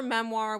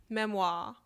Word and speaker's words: memoir: She pronounced her memoir with a soft R, memoir, and talked about hers constantly.